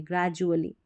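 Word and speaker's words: gradually: ग्रेजुअली GRA, grey और इसको जुअली करके पढ़ते हैं, डुअली नहीं पढ़ते, धीरे धीरे, ग्रेजुअली।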